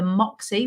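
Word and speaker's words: Moxy: So the Jury's Inn at Deansgate, the Moxie, which is spelled M-O-X-Y, the Premier Inn, and also the Deansgate Hilton.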